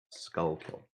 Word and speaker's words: Schuylkill: said it right love it okay skull kill skull kill this is it this is the most famous